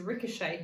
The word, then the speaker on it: ricochet: if ever you are next week is a ricochet say ricochet the ball ricocheted off the wall